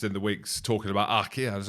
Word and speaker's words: RG: And it isn't RG Snyman, it's Achir Snyman is leaving Munster.